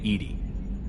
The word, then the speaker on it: EDI: why are you named Edie Edie is the phonetic pronunciation of EDI that is an acronym